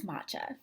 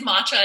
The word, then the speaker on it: matcha: don't know what is matcha great question I get asked that all the time and people wonder also about the pronunciation it is matcha it's not matcha and it's a green